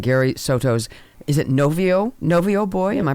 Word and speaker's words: Novio Boy: production of award-winning Gary stos is it noio novio boy am I pronouncing that correctly that's right noio boy tell